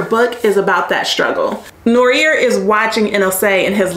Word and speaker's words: Noire: or norier okay because the protagonist famously says in the book norier the American way right not Nora the way that the French pronounce it and so the author